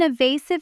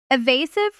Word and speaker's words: evasive: The stress is on the second syllable and that a sound is a long u.